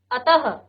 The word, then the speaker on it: अतः: विसर्ग इस ध्वनि का उच्चारण ह के समान, आधा ह। अतः, ठीक है, प्रातः और अंत में ही हम विसर्ग को लगाते हैं प्राय।